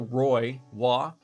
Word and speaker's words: Roy: center let's go tell roy if you're canadian patrick wah even though it's spelled roy that never made sense to anybody oh did i go